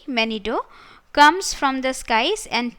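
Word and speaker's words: Manito: and many do though it is written m-a-n-i-t-o but it is pronounced as manido gichi manido was the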